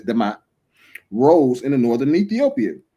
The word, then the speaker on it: D'mt: The kingdom of D'mt in the Sabaean influence by the 8th century BCE, a kingdom known as D'mt, pronounced as Demat, rose in the northern Ethiopia.